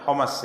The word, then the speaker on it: Hims: Tatkala gubernur di kota Hims, ya, bacanya Homas ya, yang ada di Suriah ya.